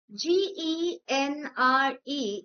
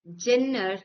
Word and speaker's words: genre: G E N R E is pronounced not as Jenner but genre.